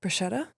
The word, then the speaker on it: bruschetta: Bruschetta? Bruschetta. It's actually pronounced bruschetta.